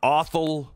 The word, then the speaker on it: Othal: suspected shooter is uh awful wallace rhymes with waffle anyway awful uh wallace